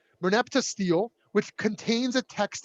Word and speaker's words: Merneptah: Is that how you pronounce it? Merneptah. Merneptah stele, which contains a text about an Egyptian pharaoh dating from the 13th century BCE.